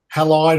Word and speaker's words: Halide: pro cam you've got halide or heli depending on where you are in the world or how you pronounce that they're very similar apps